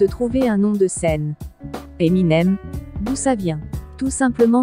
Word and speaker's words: Eminem: un nom de scène Eminem d'où ça vient tout simplement de ces initiales et plus précisément de la prononciation M&M a prononcé vite et avec l'accent anglais 5 Snoop Dog de